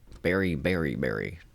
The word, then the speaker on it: Berry Bury Berry: Berry Berry Berry is how it's pronounced.